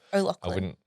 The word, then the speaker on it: O'Loughlin: So just think Lachlan, like Lachlan. the boy's name. Okay. Just put an O in front of it. So O'Loughlin.